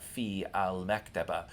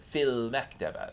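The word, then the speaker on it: في المكتبة: So not fi al-maktaba, but fil maktaba sounds better.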